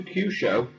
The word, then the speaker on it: Kyusho: But with regards to Kyusho, is that how you pronounce it exactly?